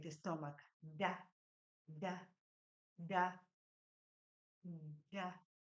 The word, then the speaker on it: nda: Da, da, da, da. The N is silent in this one.